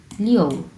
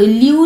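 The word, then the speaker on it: liu: আছে, তাহলে কি হবে, লিও, লিও, লিও। ও উচ্চারণ হবে, হ্যাঁ, ইউ উচ্চারণ হবে, লিও, লিও। আমার উচ্চারণের মধ্যে কিন্তু এটা বোঝা যাচ্ছে, লিও, লিও, লিও। কেউ লিউ লিউ উচ্চারণ করবেন না, লিউ লিউ, এখানে লিউ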